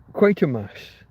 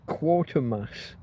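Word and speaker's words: Quatermass: quater mass. That's right. I they they' programmed it wrong as quarter mass on this video and and it it just it it annoyed it triggered me.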